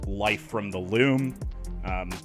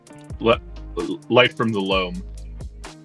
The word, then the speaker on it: Life from the Loam: Life from the Loam. That's what I said. What'd you say? Kyle said it wrong, is what he said. I said it wrong. It's my accent.